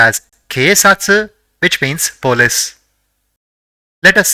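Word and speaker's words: けいさつ: the fourth is two so it will be pronounced as K satsu which means polis let us see the fourth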